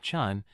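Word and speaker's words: ฉัน: This is your go-to everyday I pronounced with a high tone like chun, similar to saying chant without the t.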